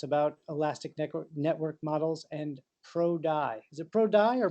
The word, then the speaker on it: ProDy: to tell us about elastic Network models and pro dye is it pro dye or pro d y d pro d pro d okay good this is the way you pronounce it yeah great so uh whenever you're